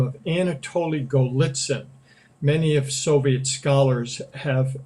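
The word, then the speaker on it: Golitsyn: for old and again his name is anatoly golitzen just as it sounds phonetically and in that he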